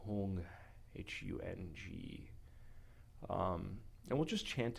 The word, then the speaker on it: hung: mind, the enlightened mind, the awakened mind, the syllable hung, H-U-N-G.